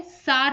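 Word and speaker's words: Tsar: है तो ये है सार निकोलस ठीक है वैसे हिंदी में देखो तो जार है और इंग्लिश में देखो तो सार है मतलब टी को प्रोनाउंस ना करके सार निकोलस द्वित ये है रूस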